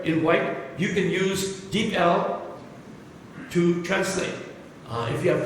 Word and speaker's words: DeepL: And you will learn from Deep L.